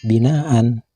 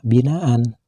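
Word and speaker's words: بِنَاءً: dengan satu Alif dan dengan kalimat binaan bila dihentikan membacanya juga tidak boleh dibaca binaan akan tetapi harus dibaca binaa panjang satu Alif atau dua harkat seperti panjangnya bacaan Mad thi'i yang ketiga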